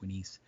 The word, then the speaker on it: Unas: have the pyramid of Winis, or better known as Unas, but his name is actually pronounced Winis.